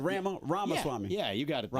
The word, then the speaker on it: Ramaswamy: Yeah, it's like Ramaswamy, like CD-ROM, but yeah. What I said, Ramaswamy. Yeah, you got it. though. It's Ramaswamy.